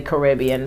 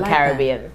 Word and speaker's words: Caribbean: A lot of Americans say Caribbean, but if the Carib Indian, so it's the Caribbean.